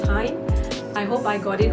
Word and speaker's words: TIJN: They were sponsored by this online company called Time, TIJN, and I was told that it should be pronounced as Time.